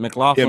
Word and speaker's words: McLaughlin: kill that role is Caleb How do you pronounce it? McLaughlin, Yeah, McLaughlin.